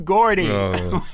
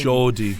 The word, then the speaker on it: Geordie: "Congratulations to the true Gordy." Wait, what? Do you know all Americans pretty much pronounce me name like that but it's G E O G. You say it all the time. Jordi, you say it all the time.